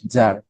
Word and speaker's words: Tsar: রাশিয়ার প্রধানকে জার। কি বলা হতো? Right, জার। বানানটা হচ্ছে TSAR, জার।